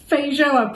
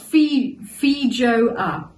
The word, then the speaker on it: feijoa: The other is feijoa, pronounced feijoa. Feijoa. Finally we know, thank you!